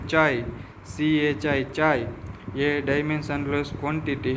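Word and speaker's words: χ: उसका यह जो ग्रीक अल्फाबेट है उसको चाय बोला जाता है। उसके प्रोनाउंस है चाय सी एचआई।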